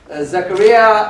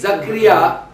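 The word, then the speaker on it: Zakaria: delighted that Naf uh Zacharia uh uh is going to take I pronounced it wrong again uh zakara uh Naf zakria is going to take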